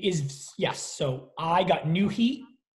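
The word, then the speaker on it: Nuheat: So I got new heat. New heat is spelled N-U-H-E-A-T.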